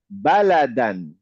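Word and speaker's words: بَلَدًا: হ্যাঁ, বালাদান। বালাদান। আমি কিন্তু দানে টান দিচ্ছি না, যদিও আলিফ আছে, ঠিক জি। আছে? এটাতে কনফিউশন হয়ে যায়, বালাদান এরকম না, মানে আসলে বালাদান।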